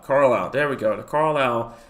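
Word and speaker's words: Carlisle: Desart to Carile. Carlile.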